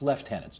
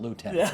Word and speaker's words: lieutenants: We're in Canada. It's lieutenants, not lieutenants. That's your American background coming out again.